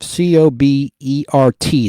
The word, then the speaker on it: Cobert: Now, the original composer of that music is Bob Cobert, C-O-B-E-R-T. The T is silent.